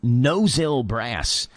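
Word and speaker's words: Mnozil Brass: I guess it's pronounced nosil brass there's an m in front of the N the M's got to be silent it's almost like the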